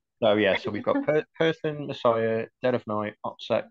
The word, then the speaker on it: Purson: So we've got OPSEC, and then we have got Person, which is based upon I found this mythology of a demon called Person. It's spelled Purson.